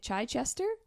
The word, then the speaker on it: Chichester: Try Chichester?